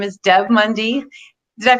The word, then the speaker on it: Deb Mundy: will be joining us often her name is Deb Mundy did I pronounce it right first of all excellent ok